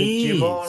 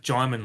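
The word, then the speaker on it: Djimon: I'm, I'm, Fucking, I'm, I can't pronounce his fucking it name, but Jimon is Jaimin. Hootsu. It's pronounced Jaimin like Simon.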